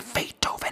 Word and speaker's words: Beethoven: Hoy vamos a hablar de la melodía en la que Ludwiig Van Beethoven se pronuncia Feitoven.